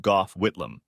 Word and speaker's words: Gough Whitlam: In the 70s, we had a prime minister called Gough, pronounced Gough Whitlam.